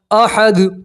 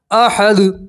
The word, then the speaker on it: احد: پیش کی تنوین ہے، وقف کریں گے تو دو پیش کی تنوین کو ہٹا دیں گے اور دال کے اوپر کیا پڑھیں گے؟ جزم، تلفظ کیا بنے گا؟ احد، تلفظ کیا بنے گا؟ احد، اس طرح پڑھیں گے، ٹھیک ہے؟